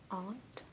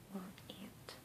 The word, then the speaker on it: aunt: tends to be either aunt aunt so either you pronounce it differently from the insect or the same as the insect and some people in